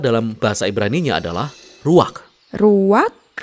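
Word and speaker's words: רוּחַ: bahasa ibraninya adalah ruang Ruak benar tenggorokan kita harus benar-benar bersih di akhir pengucapan jadi apa itu Ruak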